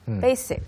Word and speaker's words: basic: Make sure you say a S. Basic. Okay, so if you say my English is very basic, Then I will say, yes, I can see that.